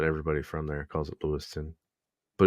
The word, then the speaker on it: Lewistown: It's spelled Lewistown, but everybody from there calls it Lewiston. But it's spelled Lewistown.